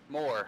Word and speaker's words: Moore: So it's Moore. Moore, like M-O-R-E. Like I want more.